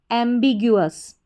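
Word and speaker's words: ambiguous: फिर से देखिए AMM, BIB, GU ग्यू, OUS अस, एम्बिग्यूअस। क्या बन गया?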